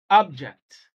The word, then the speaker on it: object: which is a noun when stress is on the first syllable object but when the stress